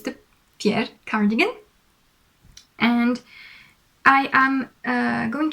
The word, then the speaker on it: Fjer: So I think I got it right, Fjer. It's quite funny. It means feather in Danish, but saying it like that, Fjer means proud in French.